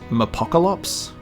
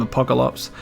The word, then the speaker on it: Mapocolops: that stuff so it's just uh and it's pronounced apocalypse um i have heard almost every pronunciation under